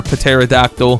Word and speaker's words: pterodactyl: We're about to get tempestuous though, hopefully from our pterodactyl. Also, before anyone says anything, I know the P is silent, but it just sounds funnier, you know?